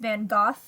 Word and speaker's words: Van Gogh: This is a self-portrait of Van Gogh, and he painted The Starry Night. And I've actually seen his name pronounced Van Gogh as well, so there's some facts for you.